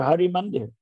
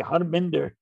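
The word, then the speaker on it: Harmandir: the habit all over they call the temple in amritsar hari mandir you know but they can't say hari they say harminder instead of hari mandir so you know pronunciation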